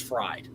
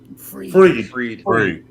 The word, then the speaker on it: Fried: Why is it spelled like fried? Because it's always spelled like what? It's ei. It's I before E. Except he does it ef. Why do we park on a driveway and drive on a parkway? Come on. I mean, let's let's Well, good. Now that I got his last name correct, I don't have to say it wrong tomorrow night, but say freed instead of fried.